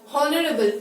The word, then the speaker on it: honorable: Now here my H is silent. We do not say honest, honorable or har. We say are, honest and honorable when my H is silent.